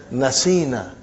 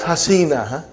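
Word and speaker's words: نَسِينَا: You will pronounce as nasina. Not hasina. Nasina.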